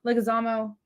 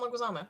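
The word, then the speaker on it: Leguizamo: everybody's gonna yell at me and that's a-okay legazamo oh John leguizama yeah did I say his name right for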